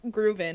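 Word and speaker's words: GROOVL1N: So Ravi, obviously started his label Groovin, which it's Groovin, everybody, is how it's pronounced.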